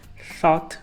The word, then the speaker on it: thought: língua entre os dentes thought no passado geralmente essa combinação aí de o u g h que a gente tem várias palavras vários verbos principalmente não pronuncia esse U E esse GH também no meio de